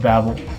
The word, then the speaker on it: Babel: At number 7, we have E2M8 Tower of Babel, or Babel, however you want to pronounce it.